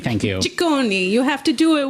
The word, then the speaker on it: Ciccone: I don't know how to pronounce her last name. Ciccone, thank you. Ciccone.